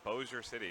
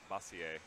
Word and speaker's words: Bossier City: the arcade yeah no TVs peeps out in Bossier City Louisiana would play and yes it's pronounced Bossier City and not Massey a or whatever you might think in it but